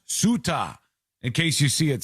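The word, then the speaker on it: Ceuta: It's pronounced suta in case you see it somewhere, but it's a a c e- ta.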